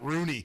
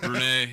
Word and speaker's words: Renee: Jaws pronounces it Rooney. Yeah, Renee.